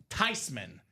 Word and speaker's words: Thyman: Because it's actually pronounced Tyman. It's a German name, Ricky. Joe Tyman, the German name.